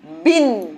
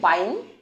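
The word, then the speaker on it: bin: বিন, মানে ওই যে আমরা বলি না ডাস্টবিন, তাহলে বিন। এটা কি আমরা আবার এভাবে উচ্চারণ করবো নাকি? বাইন। ওর তো শেষে ই নেই, তাহলে এটা কি হচ্ছে? বিন।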